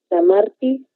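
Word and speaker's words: Sanmartí: Lectura del artículo de Neus San Martí, se lee con acento en la I final.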